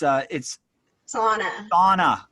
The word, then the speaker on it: Sawna: It's Sauna. Sauna. Yes. Like a hot and steamy room, but that's not how you spell it.